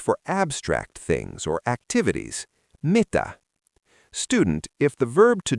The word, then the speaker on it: Mitä: Mita student.